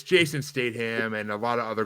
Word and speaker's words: Statham: streaming because it's Jason Statham and a lot of other good actors and actresses and you pronounce the T it's Statham and I mean as